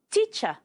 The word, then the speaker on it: teacher: Teacher. The R is silent.